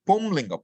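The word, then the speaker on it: पुंलिङ्ग: Pullinga is pumlinga. Pullinga. Really, I should say pullinga. There should be nasalization. But normally now what happens? We just say pullinga because we are used to dropping the nasals.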